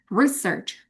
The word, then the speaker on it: research: When it comes to noun, the pronunciation is research. I conduct research. Saya meneliti hubungan. I research the relationship of blah blah blah and blah blah blah misalnya. Research. Beda penekanan, beda makna. Itu tentang suprasegmental.